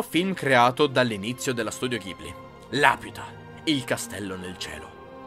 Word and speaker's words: Ghibli: avevo parlato lo studio gibli che che che loro pronunciano gibur e gli americani gibli ma ma siamo in Italia quindi Ghibli Ghibli è il vento